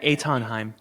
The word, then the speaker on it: Eithan Haim: But how would you pronounce it? Yeah. Etonheim.